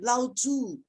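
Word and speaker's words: 老子: too it's it's loud both word is third intonation so since we come to this class we always have to remember how to pronounce this name correctly so normal saying lao tu and uh and then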